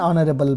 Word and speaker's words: honorable: He is an honorable man ಅನ್ನುವಂಥದ್ದು ಒಂದು ಸರಿಯಾದ ಆರ್ಟಿಕಲ್ ಆಗುತ್ತೆ ಇಲ್ಲಿ. ಯಾಕೆಂತಂದರೆ the word honorable starts with an silent letter H.